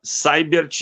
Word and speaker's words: Seibert: Eu sou de origem alemã, meus avós vieram da Alemanha, e se pronuncia Seibert e se escreve Seibert.